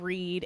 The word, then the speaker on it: Read: new to listen to It's spelled read re e a d like read or reading and um basically Karen